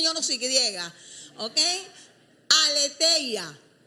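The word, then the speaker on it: aletheia: no soy griega Okay aleteia aleteia se escribe a l e t h e y Latina y a okay aletea Y esta palabra lo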